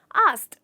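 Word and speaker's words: asked: होता आस्क नहीं होता इसका एक्चुअल प्रोनंसिएशन होता है आस्ड आई आस्क my teachers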